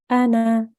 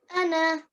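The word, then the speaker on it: أنا: this noon oh sorry this blank alif is not pronounced in continuous reading so if you are reading continuously and you see this I live and this noon with blank Olive afterwards you will recite it Anna Anna very good well done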